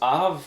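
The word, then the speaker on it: אָב: You have the next one, which is av, an aleph with a kametz and a veit. So that's Av.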